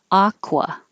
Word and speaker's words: aqua: ah so open competent aqua same vowel ah aqua aloe now the vowel